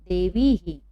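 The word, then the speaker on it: देवीः: यदि देवी के बाद विसर्ग हो तो देवी ही। क्या पढ़ेंगे? देवी ही।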